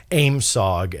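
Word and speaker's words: AOIMSG: into that more formal aoi msg which was uh pronounced aim sog at the uap hearing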